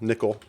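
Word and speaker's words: N1QL: sequel implementation is called n1 QL that's in one QL nickel how it's pronounced yes there is a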